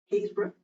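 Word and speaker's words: Happisburgh: But you've also got, you know, the first evidence of humans, so footprints, down in, you'll never guess how this is pronounced if you don't know it, Haysborough.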